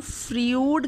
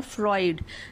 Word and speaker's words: Freud: अच्छा, इसका नाम फ्रीउड करके जो है वो स्पेल होता है, लेकिन इसको प्रोनाउंस करते हैं फ्रॉयड, सिगमंड फ्रॉयड, ठीक है।